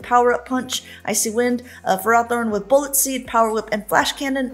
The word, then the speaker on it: Ferrothorn: extra little boost uh and then also on Ferrothorn which guys listen I don't like to call